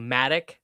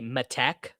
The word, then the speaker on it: Matic: How many people stress the last syllable in your name? A decent amount. People say, instead of saying Matic, they say Matek. Yeah. So that would be, well, which is not the way, I don't know.